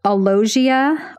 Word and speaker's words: alogia: I might mispronounce some of these. Alogia, alogia, it's A-L-O-G-I-A, also known as poverty of speech.